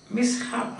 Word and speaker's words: mishap: Mishap, that H is pronounced.